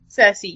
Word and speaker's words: Cersei: likes is he sir see that we pronounce it Cersei yes yeah I'm really